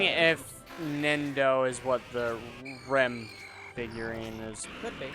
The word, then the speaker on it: Rem: It's Ren is spelled R-E-N. Rem. Yeah, right. R-E-M.